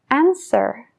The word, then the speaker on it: answer: nada Como por ejemplo la t en Listen no la oímos Listen la W en answer answer la l en should should lo mismo con could